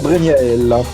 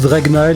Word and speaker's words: Draignaell: fait 1 point pour Dregnael. Alors, Et pour c'est- le premier point de c'est- l'émission. C'est peut-être le moment où on dit que ça se prononce Dregnael et pas Dregnael.